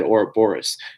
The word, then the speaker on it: Ouroboros: It is said Ouroboros.